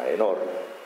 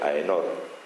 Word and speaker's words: Aenor: Así que cuando se casa con Leonor de Inglaterra, con Aenor, que es la forma aquitana de pronunciar su nombre, Aenor, lo hace con una prima más o menos lejana.